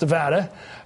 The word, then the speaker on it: Nevada: Nevada, that's pronounced Nevada, Arizona, Indiana, and Massachusetts.